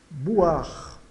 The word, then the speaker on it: boire: Boire, boire, boire, o OI soa o A. E o E final é mudo. Então, boire.